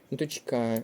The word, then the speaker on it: дочка: наголос на другий склад дочка наголос на другий склад колесо з наголосом на